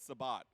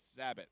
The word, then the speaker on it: Sabat: It's not Sabat. It's Sabat, like rabbit.